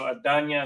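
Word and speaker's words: אדני: So Adanya is how it's pronounced there.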